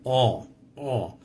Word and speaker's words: on: in the word on notice that I'm not pronouncing the N I'm closing my nose trying to simulate the end oh oh I'm not saying on I'm saying oh War not pronouncing at